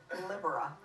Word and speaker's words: Libera: help me with and that is the correct pronunciation of oh Libera you just said it right that's libera Libra